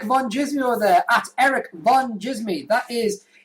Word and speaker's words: Van Djsimie: and the follow follow and the D is silent and follow I'm begging